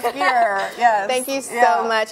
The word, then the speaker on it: Geyer: Spelled Geyer, but pronounced Geyer.